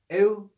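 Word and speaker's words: ἐΰφωνος: read with two syllables, not as euphonos, but as euphonos, E-U phonos, two syllables.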